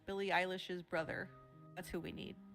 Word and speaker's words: Billie Eilish: Look, the first time I heard the name Billie Eilish, I like mispronounced it for an entire year. Okay, I kept saying, ill eyelash.